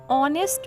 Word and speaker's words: honest: Menon is dash honest man. Honest man. Start with O because H is silent.